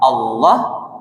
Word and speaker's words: Allah: Sebelum la itu berbaris di atas, barisnya fathah, Allah berarti bacanya tafkim tebal.